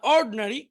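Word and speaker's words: ordinary: আবার দেখি, অ্যাটেন্টিভ মনোযোগী, ইনঅ্যাটেন্টিভ অমনোযোগী, ইন্ডাস্ট্রিয়াস পরিশ্রমী, আইডল অলস, এডুকেটেড শিক্ষিত, ইগনোরেন্ট অশিক্ষিত, ইন্টেলিজেন্ট বুদ্ধিমান, অর্ড, এখানে আইটা উচ্চারণ হবে না, অর্ডিনারি সাধারণ।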